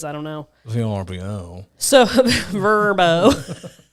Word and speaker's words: VRBO: So Verbo. Verbo. Do you know it's pronounced Verbo?